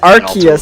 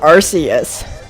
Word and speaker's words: Arceus: in our comments section it's archaeus not Arceus it's pretty much I'm